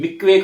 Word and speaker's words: mikveh: बपतिस्मा इस शब्द का अध्ययन करें तो इब्री भाषा में इसे मिक्वे कहा जाता है। MIKVEH, आप लोग लिख सकते हैं नोट्स में, MIKVEH, मिक्वे कहा जाता है। H साइलेंट होता है उसमें, जिसका अर्थ है एन इमर्जन।